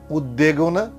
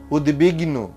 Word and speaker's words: উদ্বিগ্ন: উদ উপসর্গের সঙ্গে বফলা যুক্ত হলে সেই বয়ের উচ্চারণ অবিকৃত থাকে, অর্থাৎ ওই বর্ণটির দ্বিত্ব হবে না, দুবার বলবো না আমরা। যেমন উদ্বেগ, উদ্বেগনা, এটা হবে উদ্বেগ।